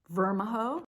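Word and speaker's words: Vermijo: the area i was unfamiliar with how to pronounce the city's street names with their varied origins uenta spelled u-i-n-t-a-h native american vermaho spelled m i v-e-r-m-i-j o spanish and cash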